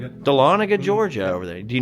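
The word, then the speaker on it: Dahlonega: Oh, then see there's all these like little things like here's a Bigfoot story called Horror in Donga. How do you say that? Delana. Delana, Georgia over there.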